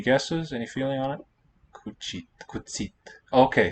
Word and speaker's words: cuțit: And cuțit. Any guesses? Any feeling on it? Cuțit. Okay, so it's basically ță, the accented T, but the I there in a weak syllable will palatalize. Cuțit.